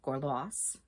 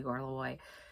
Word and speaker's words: Gorlois: of Cornwall, married to the Duke of Cornwall, Gorlois. And I hate that his name is pronounced that way. I know it's the right way. I always want to say Gorlois.